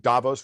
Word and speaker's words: Davos: all Malthusians I think Davos rhymes with Thanos.